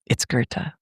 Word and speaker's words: Goethe: who pull you aside and go, "Actually, it's Goethe. I know you know the word. I'm just letting you know how it's pronounced."